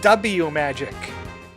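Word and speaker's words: W-Magic: So, it's supposed to be pronounced W magic.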